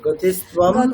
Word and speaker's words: गतिस्त्वं: আচ্ছা, গতিস্ত্বম, গতিস্ত্বম। হ্যাঁ। গতিস্तं প্রথমটা ম। না, মানে অনুসার তো আমরা বলেছি, অনুসার আমরা ময়ের মতোই উচ্চারণ করব, এটাই শিখেছি আমরা।